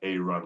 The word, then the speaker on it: Arun: a r you answer like a run like going for a jog and then j thompson